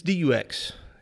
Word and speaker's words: Dux: Frank Duke Frank Dux it's Dux it's how it's spelled and I think it's like supposed to be French like do okay but like it's not spelled like that is in French mm-hmm which is kind